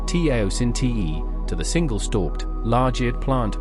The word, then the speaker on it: teosinte: the plant's domestication from its grassy relative, teosinte, pronounced teosinte, to the single-stalked, large-eared plant we know today.